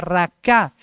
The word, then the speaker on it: raca: al infierno de fuego la palabra fatuo es una palabra que en el original se pronuncia raká erraca es como decirle cabeza